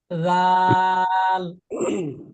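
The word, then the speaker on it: ذال: এই নরম করে জিহ্বাটা দাঁতের আগার সাথে লাগবে। জাল।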